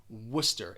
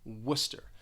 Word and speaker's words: Worcester: don't match at all worcester it's almost like you're you're getting rid of the rce those letters in the middle of the word two syllables you just say worcester even in the u.s